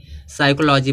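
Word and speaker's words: psychology: अब देखो सस है यस से पहले पी आया तो प क्या होगा साइलेंट सस से पहले प आएगा तो प क्या होगा साइलेंट इसको क्या पढ़ेंगे साइकोलॉजी पढ़ेंगे फिर यहां दिया है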